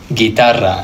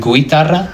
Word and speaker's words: guitarra: The same with the word guitarra, a guitar. I'm not saying guitarra, guitarra. This isn't really making a sound.